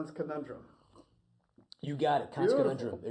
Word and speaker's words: Konundrum: Let's talk about the band, and I want you to pronounce it because I don't want to get it right. Konundrum.